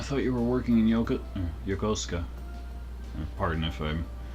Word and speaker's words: Yokosuka: I thought you were working in Yokosuka. Pardon if I'm pronouncing things incorrectly. I'm trying to work on Japanese pronunciation and stuff, but I believe it's Yokosuka.